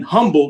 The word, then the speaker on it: Humble: that was taking place in Humble not humble humble for those outside of Greater Houston those folks out there would get mad if you put the H as his silent on Humble Texas for that but back